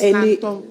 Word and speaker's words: Nanton: peace, That's how you pronounce Nanton. not Nanton. It's Nanton.